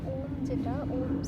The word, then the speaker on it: ওম: তো সেক্ষেত্রে ওম সাউন্ড যেটা, এটা ওমকারও হতে পারে বা আম হতে পারে, AUM, আম, দুটোই উচ্চারণ করা হয়।